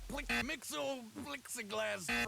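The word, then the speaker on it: Mxyzptlk: he once made Mr Mixel Mixel glass Mr that's how you say it come on now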